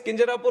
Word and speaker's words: Kinjarapu: And my name is Kinjarapu Rammohan Naidu.